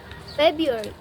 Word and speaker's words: February: First, the word February is often pronounced February, February, instead of saying February. It's too hard because the first R disappeared. It's hard to pronounce two R sounds so close together.